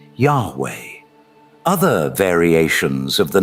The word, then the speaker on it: Yahweh: As it's translated into YHW, which properly pronouncing his name as Yao or Yao, which is literally the God the Israelites worshipped later being pronounced as Yahweh.